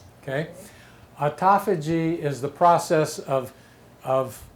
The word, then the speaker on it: autophagy: here which looks like autophagy but is actually pronounced autophagy okay autophagy is the process of of the cells consuming